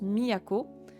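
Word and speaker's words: 都: Kyoto et dans Tokyo quand il est tout seul il se prononce Miako ça représente le concept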